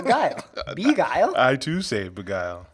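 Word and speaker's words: Begyle: of the hosts yeah and he called it beagle so i'm like man for like for like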